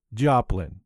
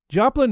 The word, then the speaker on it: Joplin: It's called Joplin. That's spelled J-O-P-L-I-N, you know, like in Missouri or Janice.